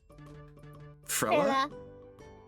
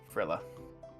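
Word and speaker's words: Frilia: Frill. Like frilly, but with an A.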